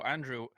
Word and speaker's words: Andriy: youtube on speak about bass and metallica so andrew welcome to the podcast i'm not sure how do i pronounce your surname i can pronounce your first